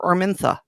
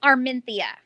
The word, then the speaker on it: Arminthia: Okay, well, now I have to ask, is it Arminthia or Armintha? It's Arminthia.